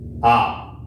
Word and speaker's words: a: First है ए, बट in Spanish it's आ। Last class में vowel की क्लास में मैंने आपको बताया था कि the pronunciation of ए इज आ।